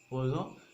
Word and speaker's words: Poisson: Okay, so this equation is actually our equation of Poisson's, or there was, I mean, the person named Poisson. Actually, the pronunciation is Poisson.